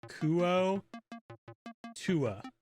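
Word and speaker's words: Kuo-toa: that absolutely 100% Forgotten Realms link says it's pronounced kuo Tua I'm not too f off I think my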